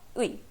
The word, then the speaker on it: 의: Okay, अगर आप इसे as a syllable pronounce करेंगे तो इसका pronunciation होगा "ui". But if "ui" is used as a particle, then it is more often pronounced as "a".